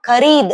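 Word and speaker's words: खरीदा: ஸோ இதை நம்ம எப்படி ப்ரொனவுன்ஸ் பண்ணணும் அப்படின்னா, ஸோ வாங்கு அப்படின்னா கரீத் அப்படின்னு சொல்லணும், கரீத்.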